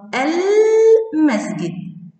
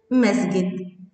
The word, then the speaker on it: المسجد: مسجد إذا دخلت عليها ال تنطق المسجد المسجد، أيضا نطقت اللام.